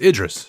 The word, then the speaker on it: Idris: listened to the show and yelled the correct pronunciation what is it again i'll learn eventually it's idris idris idris elba idris evil gotcha all right